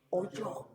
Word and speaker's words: oyó: era aquello Qué dice oyó oyó no hoyo de oír de oír porque dice oyó la gente que pasaba Y está acentuado y hoyo es con h muda Okay entonces oyó oyó